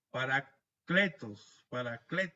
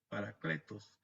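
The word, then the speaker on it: παράκλητος: La palabra griega es paracletos, así, con acento en la E, paracletos.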